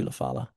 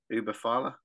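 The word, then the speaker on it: Ula Fala: that the, how do you say it, that Ubafala, is that what it's called? Ulafala.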